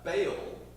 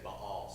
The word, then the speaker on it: Baal: but in Century America you just sound stupid if you say B all so we're going to call it baale but uh ba was